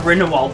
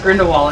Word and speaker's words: Grindelwald: about it's like that grindelwald thing where um jude law mispronounced grindelwald it's so obvious but he didn't notice there's like grindelwald it's like it's grindelwald grindelwald grindelwald and he was the